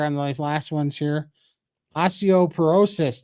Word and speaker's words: osteoporosis: those last ones here osteoporosis Todd not osteop paresis you pronounced it correctly thank you so much